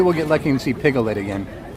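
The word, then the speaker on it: Piglet: get lucky and see pigle it again you know piget has three syllables right just check and see make sure you know that slim isn't that funny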